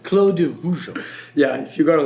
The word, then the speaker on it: Clos de Vougeot: This is Clos de Vougeot. What's the proper pronunciation? Clos de Vougeot.